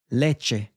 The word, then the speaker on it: leche: If it's only a two-syllable word, then that means the stress will come up front. Llave. Leche.